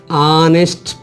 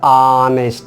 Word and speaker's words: honest: So H is silent means no sound.